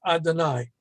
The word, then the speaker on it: Adonai: Okay, and when we read it, Yud Hey Vav Hey, we're always going to pronounce it as Adonai.